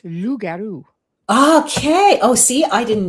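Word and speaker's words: loup-garou: Rugaroo is a New Orleans lugaru. Lou is French for wolf. And so up here it's lugaroo.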